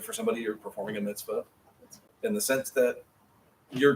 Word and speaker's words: mitzvah: Now, that gives us the letters and vowels to spell mitzvah.